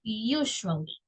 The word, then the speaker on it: usually: Si yo uso usually, by the way, la pronunciación de esta palabra es usually, ¿ok? You, como que usted diga you, del sujeto, usually, all right?